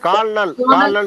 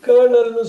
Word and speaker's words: colonel: சார் இது கால்னல் சொல்லாம சார். இல்ல இது வந்து அப்படி சொல்லக்கூடாது. கர்னல்னு சொல்லுவாங்க. கர்னல்.